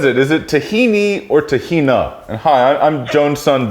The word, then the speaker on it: tahina: influence recognize it as tahina so as and what about in israel what do they call it in israel which would be the arabic pronunciation and they call it